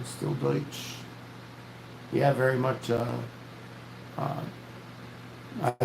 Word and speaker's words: Deutsch: Deutsch. Her name was Deutsch, like Deutschland. Yeah. Yep. That was my mom. That is my uncle's name is Deutsch. My brother's name is still Deutsch.